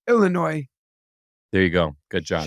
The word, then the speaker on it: Illinois: comom Joseph two things to tell you one don't pronounce the s in Illinois just going to say that to you just I'm looking out for you no no no s no s Illinois Illinois there you go good